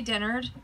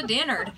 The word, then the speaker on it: Dennard: I say Dennard, but most people say Dennard, which is probably the correct way to say it. But my family's from Redneck, Georgia, so we turned it into Dennard.